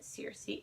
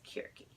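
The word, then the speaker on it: Circe: a book entitled jerky I will never pronounce it Searcy it is cure key and it is a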